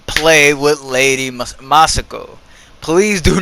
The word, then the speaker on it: Masako: The other characters, Lady Masako, as we're seeing right now, that was such a horrible pronunciation. Masako.